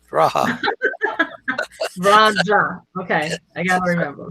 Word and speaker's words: Raja: Raja. Raja. You're thinking it's pronounced like a Mexican. Raja.